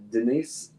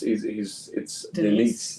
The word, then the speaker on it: Denis: But the director was Dennis? No, it's Denise.